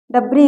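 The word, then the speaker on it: debris: देखिए यहां पर देखिए डी ई बी आर आई एस डब्री इसको पढ़ते हैं डब्री मतलब होता है अवशेष यहां पर यस साइलेंट हुआ ठीक है इस प्रकार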